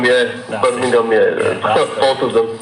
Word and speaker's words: Birmingham: Birmingham, yeah. Birmingham, yeah. Both of them. Not Birmingham, Birmingham. Yeah. Birmingham, you have to say with the correct pronunciation.